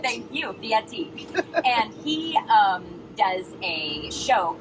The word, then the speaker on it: Fieri: So Fieri. Thank you, Fieri.